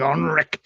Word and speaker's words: Onrik: His name is Onrik. You gotta say it like Onrik.